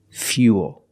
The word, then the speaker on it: fuel: like pool and cool but remember with fuel we have the same spelling pattern but the pronunciation is a little different we put that Yi sound in there fuel so all four words